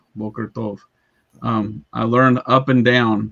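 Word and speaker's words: בוקר טוב: Boker tov. Boker tov.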